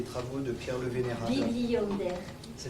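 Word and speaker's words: Bibliander: Bibli Yonder. Ça s'écrit comment?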